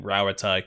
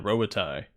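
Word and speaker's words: Rauatai: dream of place as close to pronouncing rawatai correctly I've been saying robatai uh hey there hope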